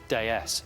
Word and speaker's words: DS: In 1955, Citroën gave us this, the radical, beautiful DS, or if you're French, pronounced déesse, meaning goddess.